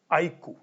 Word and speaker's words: iQOO: But now before I unbox the phone, मैंने तो आपको यहाँ पे बता दिया ना, iQOO, right? I-Q-O-O. That's how I pronounce it and that is how everybody is supposed to pronounce it.